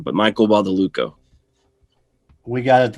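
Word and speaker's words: Badalucco: describing the previous thing i got the last name wrong but michael bought the luco we got it right we overall the uh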